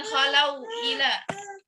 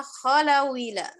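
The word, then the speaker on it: خلوا إلى: Berarti kita bacanya adalah khalawila. Khalawila. Jadi harokat hamzah yang kasrahnya dipindahkan ke huruf waw. Wa idza khalawila. Ya. Wa idza khalawila. Khalawila. Wawnya jadi kasroh. Ya. Khalawila, jangan dibaca wawnya sukun.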